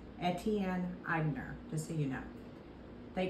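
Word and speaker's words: Etienne Aigner: Atelier in 1959 in New York it is pronounced at Tien eibner to so you know they created Timeless signature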